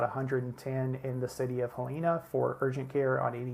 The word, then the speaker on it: Helena: mispronunciation of Helena uh here in Alabama we actually pronounce this helina but you could select